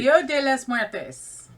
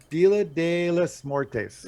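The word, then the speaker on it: Día de los Muertos: on, and I actually Dio de las Muertes. Dia de los Muertes. Okay, yeah, you just butchered it a second time. Give me one more time. One more time. Dio Dio de de los los Muertes. Muertes. Yeah, there we go.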